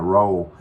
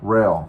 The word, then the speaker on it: Roehl: trainings here at Ro or how do they pronounce that I I was calling it roll it's not called roll or R rail ra that's that's how they pronounce it's r o